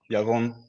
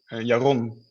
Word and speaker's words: Yaron: It's like from the Hebrew pronunciation is Yaron with the L. And in the Netherlands, I would say Yaron with a bit harder of an R.